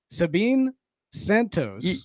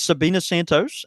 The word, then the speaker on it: Sabina Santos: names the nominees are Sabine Santos you already butchered it dang it and John David will read off the nominees yeah it's Sabina Santos and uh we have